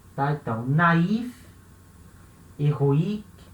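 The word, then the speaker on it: héroïque: Eu não posso juntar o O com o I e falar o A. Não. Eu tenho que separar o O do I e falar as duas vogais separadas.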